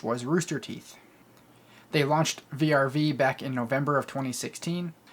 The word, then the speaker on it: VRV: a few other things called vrv or pronounced verve i'm not sure if